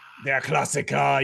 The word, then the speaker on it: Der Klassiker: Der Klassiker. You got to say it like that.